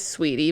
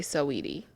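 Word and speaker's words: Saweetie: it to be okay i'm gonna say sweetie okay it is sweetie but i am dyslexic so i have to say so edie yeah cause that's how it's spelled so her and who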